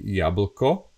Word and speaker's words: jablko: In English, you say an apple, and in Slovak, we say jablko. It's pronounced as jabl. Here is the schwa sound, jablko, jablko. And yeah, you see ep, eb, ab, l, apple, jablko.